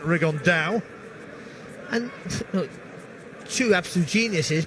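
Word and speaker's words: Rigondeaux: he's talked about fighting rig on though or as he's correctly pronounced with the uh spanish accent rig on dao and no two absolute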